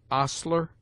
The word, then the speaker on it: ostler: with a full breath, except in air, herb, ostler, honor, humble, honest, humor, and their derivatives.